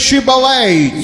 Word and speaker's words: Shibboleth: you say Shibboleth.